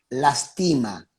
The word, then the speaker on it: lastima: La lástima, con acento en la primera A, lastima, sin acento.